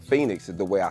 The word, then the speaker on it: Feniks: the pronunciation of Phoenix so that's how you pronunciate Phoenix is the way I spell it l n